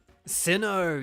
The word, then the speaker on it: Sinnoh: times I do um Sinnoh yes yeah zandas plays it sinner that's cool that see that's a cool pronunciation though anyway here you